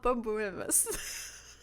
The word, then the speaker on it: borborygmus: And be like, Mom, I learned on All About It podcast that it's called Borborygmus.